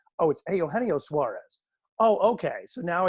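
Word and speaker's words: Eugenio Suárez: It's Eugenio Suarez.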